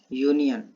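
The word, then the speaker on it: union: यूनियन। इसके पहले क्या यूज होगा? तो यहाँ पर आपको दिखाई क्या दे रहा है? दिखाई तो दे रहा है वॉवेल, ठीक है, लेकिन जब प्रोनाउंसिएशन करेंगे तो आएगा यूनियन, ठीक है।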